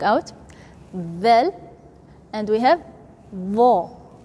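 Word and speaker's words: ظ: So we have tha, tongue out, vel, and we have vo. Vo, don't say zo. Most of people, they say zo. Wrong. Totally wrong.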